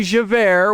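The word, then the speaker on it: Javert: That would be ja which is j a v er t and is already pronounced as air.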